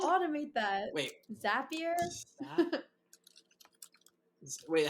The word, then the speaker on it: Zapier: is is that a thing like straight from zapier what's it called automate that wait zapier wait how do you spell that ga p-i-e-r so there are integrations that